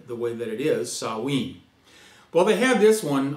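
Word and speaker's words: Samhain: i n and you think it would be Sam Han or S Hine but it's actually saen so we're going to pronounce it correctly and call it the way the way that it is sawe well they had this one on November 1st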